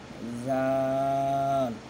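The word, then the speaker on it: ذال: হ্যাঁ, খ, খ, খ, দাল, দাল, জাল, এটা একদম ফাতলা, ওই আপনারা এই এই হরফটা যেভাবে উচ্চারণ করছিলেন, সা জিব্বা বের করে হালকা, আপনার সেম এই হরফটাও হালকা জিব্বা বের করে উচ্চারণ করবেন, জাল, একদম ফাতলা হবে।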